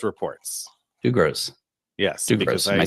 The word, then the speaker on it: Dugroz: I think I think he pronounced it. Dugos reports. Doug Gross.